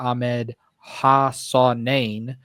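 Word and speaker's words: Ahmed Hassanein: State uh pick 194 Ahmed hasanain from Boise State uh learned that pronunciation off screen a few minutes ago so that's what we're going to go with uh pick two 202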